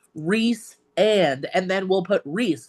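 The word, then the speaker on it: Rhys: God, there's an actual pronunciation guide, and someone still will call him Rice and I'm like, who is Rice? Who? It is because she even writes like Reese and then we'll put Reese like Reese's Reese Reese, and pieces.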